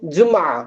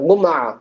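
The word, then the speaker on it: جمعة: ஃப்ரைடேக்கு அரபில என்ன சொல்லுவோம் ஜும்மா ஃப்ரைடேக்கு ஜும்மா சொல்லுவோம் அதை வந்துட்டு எப்படி ப்ரொனௌன்ஸ் பண்ணுவாங்க ஜும்மான்னு ப்ரொனௌன்ஸ் பண்ண மாட்டாங்க கும்மா எப்படி சொல்லுவாங்க கும்மா கும்மான்னு ப்ரொனௌன்ஸ் பண்ணுவாங்க ஓகே வேறென்ன வார்த்தையை வந்துட்டு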